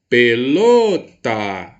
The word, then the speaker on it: pelota: é a sílaba tônica vou chamar no portão pelota pelota posso ir o meu emprego mais potência vocal para pronunciar pelotaa a sílaba lo então quer dizer que a cida falou é a mais forte é a sílaba tônica da minha palavra olha onde ela se